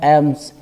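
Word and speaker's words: alms: क्या कहा जाता है एम्स यहां पर एल खामोश है साइलेंट है तकाफ में बैठने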